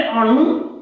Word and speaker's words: अणु: एक है अणु और एक है अणु, ये तवर्गी नो है और ये तवर्गी नो है। इस नो का उच्चारण दांत से होगा और इस नो का उच्चारण मूर्धा से होगा।